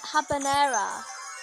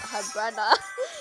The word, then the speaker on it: habanera: hot it's not hard it's hard habanera that's how it's like pronounced not her brother how crazy are you